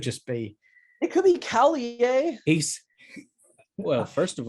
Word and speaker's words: Terry Callier: mean do we even know that it's pronounced kellier like it could just be it could be kelly yeah he's well first of all he's he says terry callier on the album so oh right yes i